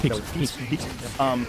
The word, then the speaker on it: Pepys: Capais? How would you say that? Pepys.